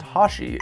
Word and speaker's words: 84: many call him choan the name 84 Hashi technically just pronounced Hashi is a reference to